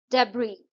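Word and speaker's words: debris: Receipt डेबरी इसमें S silent है।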